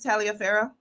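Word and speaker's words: Taliaferro: three and a half Cassandra is a three Talia phoh you know whose middle name is Talia phoh you know when I wrote down my kids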